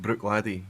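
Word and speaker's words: Bruichladdich: it would have been so soft that over time it's just been dropped so it's now just brick lady just brick lady it's all you need to remember to say so the CH is there as a trap chat and then the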